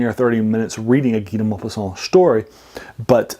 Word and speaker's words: Guy de Maupassant: you're English or American, you might have seen his name spelled Guy de Maupassant, and that's maybe how you even pronounce it. It's actually French. He's not American. It's Guy de Maupassant, and he is a